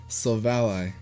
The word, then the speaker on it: Silvally: picking up silver silvalley the anime has confirmed we pronounce it silvally I'm so I'm still saying so volley because the other name's